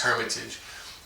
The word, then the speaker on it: Hermitage: uh yeah i guess this isn't the french pronunciation it's just hermitage uh he says uh